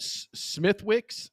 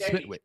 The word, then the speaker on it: Smithwick's: So, uh, you said Smith Wixs. That's pronounced Smith Wix. Smith Wix. There's a th there, David. It's Smith. I get it, but that's not how they say it. Smithwick.